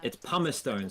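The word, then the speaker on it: Pumicestone: Oh, it's Pumastone. Sorry, I have finally learnt the pronunciation of that seat. It's Pumastone.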